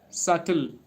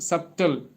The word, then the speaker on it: subtle: Sometimes people say it subtle. S U u B T L E but it is subtle not subtle. B is silent so we need to pronounce it like subtle.